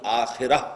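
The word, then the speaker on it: آخرة: کے مقابلے میں آخرہ آخرت جسے ہم آخرت کہتے ہیں عربی میں اس کا تلفظ آخرہ ہوگا اس آخرہ کے مقابلے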